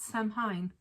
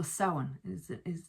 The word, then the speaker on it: Samhain: Another Irish thing, obviously, is Halloween or Samhain. Not Samhain, according to feckin', what was it, the Halloween movies, Samhain.